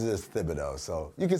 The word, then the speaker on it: Thibodeau: here's a question okay he says it's Thibodeau that's how he pronounces his own name but I have a